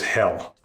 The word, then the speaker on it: Hel: But hell is just called hell, right? It's it's just like English except that it is one L.